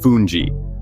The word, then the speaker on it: fungi: Try fungi, pronounced fungi, a cornmeal side, and callaloo, a hearty, leafy stew often with conch or crab.